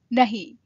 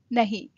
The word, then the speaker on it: नहीं: No, nahi. Not, nahi. You can spell it N-A-H-I or N-H-I. Either way is fine as long as you are pronouncing it nahi.